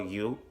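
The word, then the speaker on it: Yeux: It's the Hydra Beauty Gel Yo. I believe it's pronounced. I know it's a Y-E-U-X, and I know that means eye.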